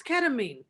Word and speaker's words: ketamine: And first of all, time out. It's ketamine. Ketamine. Like, what country are you from, Stevie? That's how they say it in the Netherlands.